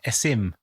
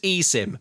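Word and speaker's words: eSIM: Is that how you pronounce it? I've been saying I've been saying aim.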